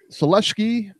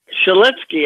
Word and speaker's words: Sulecki: much s Solinsky I always thought it was Celeste key but hey I apparently I stand corrected how did buffer pronounce his name last night shal etske I think yes Solinsky like with an end